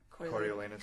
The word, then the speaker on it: Coriolanus: Coriolanus.